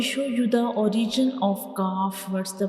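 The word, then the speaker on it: ك: When we pronounce calf, the very back of the tongue will touch the hard palate, like calf.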